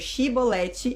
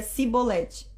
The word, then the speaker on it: Xibolete: Era para dizer chibolete e ele dizia cibolete.